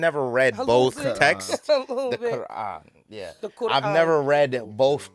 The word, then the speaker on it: Quran: The Quran.